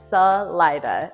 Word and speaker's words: Salida: Salida, and it stuck forever, until now at least. So that's the official local pronunciation, and it's not correct in Spanish, but it's what we use here.